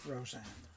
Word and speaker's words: Rosanna: Rosanna, darling. Well, I would pronounce that Roseanne.